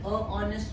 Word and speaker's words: honest: a honest man but the sound of H see h words hello H Hi H how H hair uh and here the sound is o sound of a vowel so we will say he is an honest man though it's a consonant but the sound is of a v now see another example